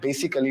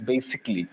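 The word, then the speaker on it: basically: First of অল, ইটস নট বেসিক্যালি, ইটস বেসিকলি। This is a very common pronunciation error guys.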